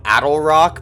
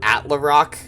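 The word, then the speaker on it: Attlerock: Like, I think it's supposed to be Attle Rock, but I was saying Atla Rock when I first started playing.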